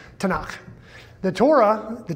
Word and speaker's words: Tanakh: tnk tanak so it's an abbreviation that they pronounce tanakh the torah the t is the first five